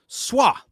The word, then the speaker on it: Szwarc: That's his first name, pronounced Gino, the T is silent, Gino Schwa, SZWARC, as in cat.